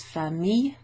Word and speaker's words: famille: So, when you've got a double L, you don't pronounce it normally le.